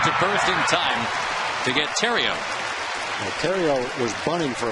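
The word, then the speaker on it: Theriot: Terrio, it's pronounced, but if you put a space in there, it is the Riot.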